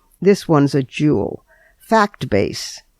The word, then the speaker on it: FactBase: FactBase. But FactBase is spelled FACTBA.SE. In other words, the dot comes before the last two letters, fact-base.